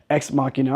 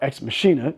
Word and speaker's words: Ex Machina: And it was written by Alex Garland, who would go on to make movies like Ex Machina or Ex Machina, depending on how you choose to pronounce it, and Annihilation.